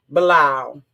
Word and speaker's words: Bilal: His name is pronounced, what is his daggone name? Bilal.